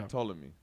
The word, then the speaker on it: Ptolemy: you don't when you when it comes to ptolemy you don't pronounce the p it's the total of me yeah ptolemy okay and the son